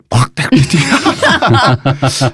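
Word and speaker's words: fraternité: 그런데 이 박애는 원래 원어가 프라테르니티, 원 발음으로는 프라테르니티 하는 이 단어는 사실은 박애가 아닙니다.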